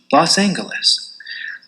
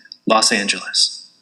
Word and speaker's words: Los Angeles: For a great many years, I've been accustomed to the use of the hard G, Los Angeles. The citizen jury has rendered its verdict. I accept that verdict. I yield to the expression of the majority, and from henceforward I will pronounce the fair name of our great city, Los Angeles.